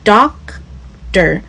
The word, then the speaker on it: doctor: 有人可能会念 Doctor Doctor，如果念得非常小声，你可能也是会听不到的。